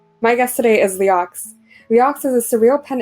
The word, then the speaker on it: Leeaux: Oh, it's Leeaux. Leeaux, but it's okay because it's like Cajun. It's French Cajun. It's New Orleans kind of how you pronounce it's like how you pronounce O is AEUX. EAUX.